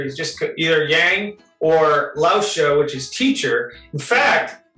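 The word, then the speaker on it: 老师: So a Lausha is a teacher, and her name is Lu.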